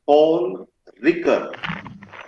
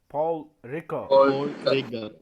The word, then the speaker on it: Paul Ricoeur: you like it it is uh to be pronounced correctly it is paul ricker rico you are see you are poor ricker what is the name paul ricker paul ricker ricker yes it is paul ricker